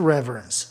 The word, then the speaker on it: reverence: Reverência, reverence. Esse conte com apenas uma sílaba, tá? Reverence. Palavra propaloxítona, o E não tem razão de ser I, reverence.